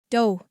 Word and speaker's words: dough: This sounds like no and rhymes with slow. The words to remember are although, dough, furlough, thorough, and though.